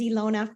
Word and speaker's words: Ilona: you some verbiage uh my name is Ilona from Kelowna British Columbia up in